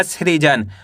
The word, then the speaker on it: सृजन: स में ऋ की मात्रा श्री ज न तो मिलके बन जाएगा सृजन।